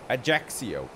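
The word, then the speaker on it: Ajaccio: little water landing plane ajaxio that's how it's pronounced apparently look at down here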